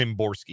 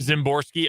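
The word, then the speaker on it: Szymborski: or a silent why I think it's just a symborski zimborski okay adding extra syllables to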